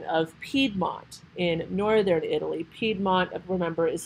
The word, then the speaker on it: Piedmont: Piedmont, remember, is spelled P-I-E-D-M-O-N-T.